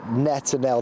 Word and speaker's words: Netanel: solidarity with Israel for uh netanel that's how I've been told they pronounced his name here they've seen him coming